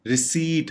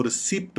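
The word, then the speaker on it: receipt: हम इसको गलत प्रोनाउंस आमतौर पे कर जाते हैं, जिसको हम इस तरीके से प्रोनाउंस करना चाहिए रिसीट, जबकि इसकी गलत प्रोनाउंसिएशन जो बोली जाती है वो रिसिप्ट बोली जाती है, जो कि बड़ी ही सुनने में मज़का खेज लगती है।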